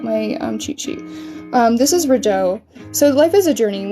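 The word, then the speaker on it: Raidho: I'm trying to learn how to say the runes in correct pronunciation, so I had to look at my cheat sheet. This is Rideau.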